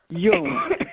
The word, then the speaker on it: Jung: Jung. it becomes a Jung. Y. The J, it becomes a Y.